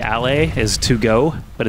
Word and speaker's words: aller: So ER in French is pronounced A, and it's at the end of all of their vowels. Or not vowels, sorry, verbs. So like aller is to go, but it's spelled A-L-L-E-R.